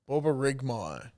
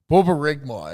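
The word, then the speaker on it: borborygmi: rigmar boba rigmore okay it's b o r b o r y g m i it's kind of so then the sound lie is b a w r b u h r i g m a h y yeah why do we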